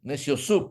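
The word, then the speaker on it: Neciosup: My last name is Neciosub. N like Nancy, E like Ethan, C like Charles, I, O, S like Sam, U, P like Peter. Neciosub.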